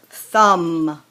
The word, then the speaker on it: thumb: those would be delicious thumb notice the silent B on that thumb there's my thumb trunk